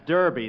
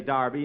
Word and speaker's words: Derby: Darby last Saturday bill that's Derby the English say Darby and the Americans say Derby yeah and the losers